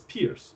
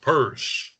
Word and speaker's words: Peirce: Which some pronounce as Pierce. I don't know if that's correct or not. I don't think it's correct. It's from the Old English name Pers. That's right. Yes. and it's pronounced purse. So the correct pronunciation is purse.